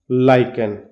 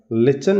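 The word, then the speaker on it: lichen: The smell of leaves and लाइकन, लिचन या लाइकन आप कुछ भी बोल सकते हो, दो तरीके से प्रोनाउंसिएशन होता है इसका, लाइकन भी बोल देते हैं, लिचन भी बोल देते हैं।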